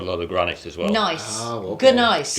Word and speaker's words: gneiss: It's gneiss, but it's pronounced nice.